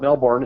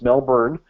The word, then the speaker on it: Melbourne: I pronounced it correctly this time. It's not Melbourne, it's Melbourne, Australia.